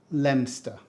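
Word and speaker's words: Leominster: a movie set next this one looks simple but it really isn't it's pronounced lemster we don't say Leo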